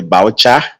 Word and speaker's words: biochar: And when you have the plant that is well dried, so we now if you are turning it to the boucher, boucher is spelled BIOCHAR.